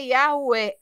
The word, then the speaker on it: Yahweh: Ao analisar inúmeros manuscritos contendo o nome Yud, He, Vav, He, concluiu o rabino James Trim que a pronúncia correta é Yahweh, em concordância com os maiores especialistas sobre o tema.